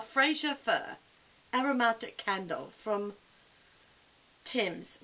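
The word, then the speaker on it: Thymes: Fir aromatic candle from Tim's which is spelled fine th y mes Fraser Fir this smells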